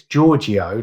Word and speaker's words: Giorgio: the Georgio does it well it's Georgio like Georgio Arman with de at the